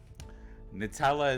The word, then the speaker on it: Nutella: I pronounce it Nutella. Nutella is the proper way to say it.